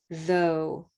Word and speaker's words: though: rose word okay rose what can we say when it doesn't have the t it's rose when it has the t it's olive thought right so that olive comes